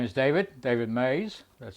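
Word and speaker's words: Meyes: talk about here my name is David David Mays that's spelled m-e-y-e-s talking to you from Houston Texas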